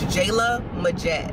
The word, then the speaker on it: Jaelah Majette: particular name but a lot of people can't pronounce it it's jayla majette i just wish that more people could pronounce